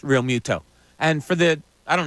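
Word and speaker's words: Realmuto: the whole game through JT real Muto needs to have his name pronounced real Muto and for the I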